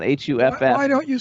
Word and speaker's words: Hough: remember he's a BAFTA nominees was real Adrian Huff yes and his Instagram is real Adrian Huff but if remember that Huff is Hou G H and not H uff why don't you spell it h uff to